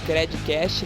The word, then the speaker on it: Credcast: Até a próxima e não esquece de compartilhar também o nosso conteúdo aí com a hashtag Credcast, lembrando que o D é mudo.